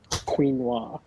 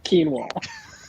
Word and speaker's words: quinoa: Hey, Mike, I think one of the reasons you'll never get a Rolex from an AD is because you say quinoa. It's quinoa.